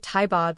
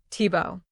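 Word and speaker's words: Thibault: the same way and she pronounces it taibod like in the German way. I always thought it was that way. You guys set me straight. That's fine, Tibo.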